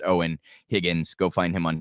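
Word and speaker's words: Eoin: It's his first name's a little bit, it's spelled weird, E-I-O-N, pronounced Owen Higgins.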